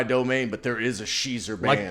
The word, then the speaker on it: Schiezer: The joke I always make: if Weezer, I'm sorry, had a female cover band, would be Schiezer, and there is one.